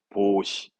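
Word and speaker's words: 防止: 발음은 보시합니다. 보시. 보시입니다. 보시. 방지의 보시.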